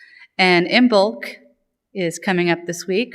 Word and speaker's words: Imbolc: of service you'll see a funny word it's pronounced imul and imul is coming up this week on February 1st